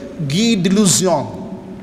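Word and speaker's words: Guy de Lusignan: Kalau ikut dia punya bunyi, Guy, G-U-Y, Guy de Luzion, Lusigna, L-U-S-I-G-N-A, Lusigna. Nah, tapi pronunciation dia Guy de Luzion.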